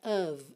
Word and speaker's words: of: It's the light, pintei esse f de of aí pra você lembrar que ele vai ter som de v, tá? E o o também não é o, né? Of, of, tá?